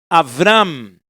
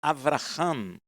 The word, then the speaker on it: Avram: Então vai Homera, Donaiel, Avram, não é Avraham, é Avram.